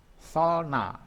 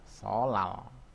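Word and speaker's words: 설날: Solna. Ini tulisannya solna ya. Tapi membacanya adalah solal. Ini bacanya solal ya. Bacanya solal. Jadi ini bacanya bukannya solna tapi solal gitu.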